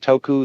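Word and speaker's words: 德: qu T end qu the Japanese pronounce it toku the Cantonese duck and the northern mandarins approximately da in the section of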